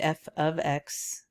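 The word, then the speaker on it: f(x): x thing and remember it is pronounced f of x you don't say f times x and uh just remember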